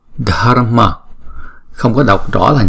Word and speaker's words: Dharma: Âm AR này là chỉ đánh lưỡi thôi chứ không đọc là R ha.